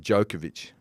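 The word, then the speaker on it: Djokovic: you say your name he said jokovic that's when it became jokovic not jokovic which is quite weird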